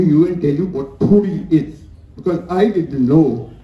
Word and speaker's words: ਫੂੜ੍ਹੀ: Now, some of you would pronounce it as Puri. I will pronounce it only as it should be pronounced in Punjabi. It's actually not R, but R. It's Puri.